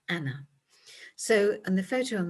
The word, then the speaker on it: Anne: Now her name was soon shortened to an as we know her, but they would have pronounced it in the continental fashion of Anna.